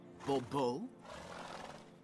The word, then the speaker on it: Bobo: Monsieur de Bobo. The emphasis falls on the last syllable. Bobo?